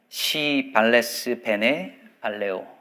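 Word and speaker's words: Si vales, bene valeo: 라틴어로 발음할 때는 조심해야 합니다. 이렇게 읽거든요. 시 발레스 베네 발레오.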